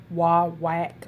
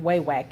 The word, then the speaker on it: Wawak: over way way and I understand this pronounced wild wacked or something to that nature but you know what it don't flow off my tongue like that so we are going with way wack and so let me